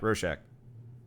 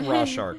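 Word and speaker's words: Rorschach: I pronounce it yeah rosack RW shark it's like it's like raw shark sort of Ro but like in the movie it was rosack I don't know anyway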